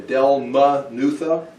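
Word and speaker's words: Dalmanutha: point one Del munitha how would you say Delma nutha Del marathon is that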